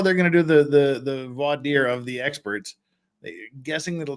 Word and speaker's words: voir dire: It's not Vardur. Well, see, I was going to say, that's how you can tell that Jeff's getting tired. He said voir dire properly.